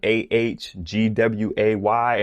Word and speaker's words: Aguei: and I was like, can I pronounce it Aguei, like Ahgway? And they just said that's fine.